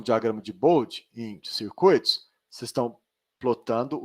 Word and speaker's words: Bode: Eduardo, diagrama de Bode. Os alunos gostam de chamar de bode, mas pronuncia Bode, mas escreve bode.